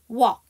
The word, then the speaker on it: walk: 이렇게 ALK로 끝나서 L 사운드 묵음인 거. 여러분 알고 계시는 거 뭐 있어? walk.